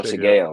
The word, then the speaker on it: Shigeo: I don't watch Mob Psycho and my pronunciations are ass. Shigeo? Shigeo? Oh, Shigeo.